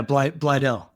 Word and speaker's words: Blydell: Yeah, Blydell.